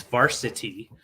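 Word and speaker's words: Varcity: made by made by Varsity uh yeah just varsity is the name of the company and they spell it v-a-r-c-i-t-y weird yeah it's a weird spelling but it's Varsity um and it has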